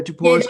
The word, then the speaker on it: Djapouras: Yeah, Djapouras. Djapouras. The D silent way.